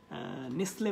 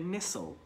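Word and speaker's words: Nestlé: অনেকে যারা জব করেন নেসলে বাংলাদেশে তো এটা আপনার উচ্চারণটা ঠিক রাখতে হবে এটা হবে নেসল this is নট দ্য নেসলে নেসল আপনি দেখেন ফোনেটিক সিম্বল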